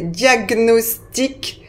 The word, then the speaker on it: diagnostic: importants ah j'ai oublié diagnostic diagnosticque voilà donc ces mots-là se prononcent gne donc mémorisz les bien